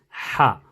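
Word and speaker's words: ح: So there's ha and there's ha. So the softer ha and the sharper ha. This is the sharper one. So this is ha.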